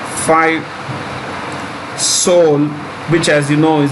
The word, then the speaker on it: Seoul: in canada five seoul which as you know is the capital of south korea south korea he is silent so it's pronounced soul it's pronounced so top